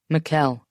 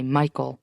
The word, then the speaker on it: Mikuel: Mikuel, he says. People always mispronounce it and say Michael, though.